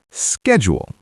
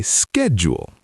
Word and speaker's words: schedule: Well, Americans say schedule like schedule, but British people say schedule like schedule. schedule. Schedule. They're so different. Very different. So, if you're in America, say schedule.